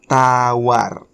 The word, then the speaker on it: tawar: to indonesia is tawa tawar the sound of r again appears here okay tawar remember you have to make the sound of are clear okay tawar means to